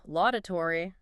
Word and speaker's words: laudatory: Number 10, laudatory. Or sometimes you hear the root here is loud and clear. Law, like an applaud.